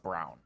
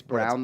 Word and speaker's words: Braun: work but it would it's spelled like Christian b-r-a-u-n they say it's brown though from 90 sure it's